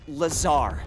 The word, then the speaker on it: Lazar: and its sales liaison it's lazar actually accent on the tsar but yes i'm your